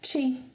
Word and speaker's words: te: That can be pronounced as chi, but it's spelled with e, like te.